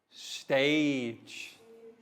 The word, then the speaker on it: stage: sounds cage giraffe giant stage page notice how the g sounds like j and this is